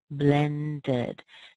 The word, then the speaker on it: blended: we end up with blended. So in these particular words, you actually add an extra syllable on, and you hear the vowel sound, which in most cases is a schwa.